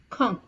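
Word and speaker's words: quand: which means Ben now please pay attention to the pronunciation it is K Kong okay now similarly you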